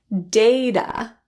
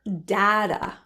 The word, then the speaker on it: data: data or data. Data pronounced as a or a.